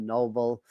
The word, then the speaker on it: Nobel: It's spelled Nobel, but I think he pronounced it Noble.